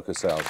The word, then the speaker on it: Casals: spain this fellow called cabals is it cabals casaus casaus nominate ansley pablo casals it was pablo casaus yes so ten points for this what term